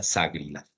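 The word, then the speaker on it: SAGRILAFT: Y es una palabra que se pronuncia SAGRILAT.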